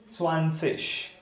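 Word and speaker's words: zwanzig: Yeah, so it is swansish, tish. IG at the end will be pronounced as ish sound, swansish, fertish.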